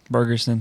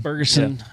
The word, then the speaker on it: Ferguson: Uh Chase Berguson. Ferguson, that's how you say it.